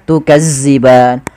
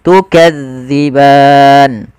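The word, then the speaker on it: تكذبان: lafal Ma kemudian tukban hati-hati di dalam melafalkan Zal karena Zal ini salah satu huruf idlak yang dia pelafalannya di ujung lidah kita menempel dengan Gigi Sari ya maka gigi Sari atasza Jangan dibaca dengan zza Maka jangan baca tukazziban tapi kita bacanya tukadziban kemudianfal ban kembali lagi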